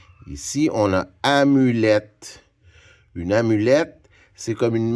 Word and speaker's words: amulette: Le son et qui s'écrit E-T-T-E, on le rencontre souvent dans des mots. En français, à la fin. Alors, quand vous entendez et, ben, ça veut dire que c'est E-T-T-E.